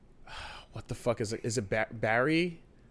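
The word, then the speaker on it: Barrie: Is it Barry? How do you Hey, babe. Yeah. What's Is it Barry in Ontario? Barry.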